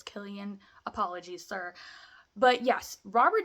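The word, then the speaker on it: Cillian: pronouncing his name right because people are saying syan Murphy but I'm pretty sure it's it's Killian apologies sir but yes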